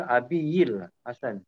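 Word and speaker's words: أبي الحسن: Ya, pronunciation Abil Hasan. Abil Hasan, Abil Hasani. Okay. Abil Hasan. Hasanil. Hasan Al-Nadwi. Sebab dia majrur ya, sebab dia di Abi ya.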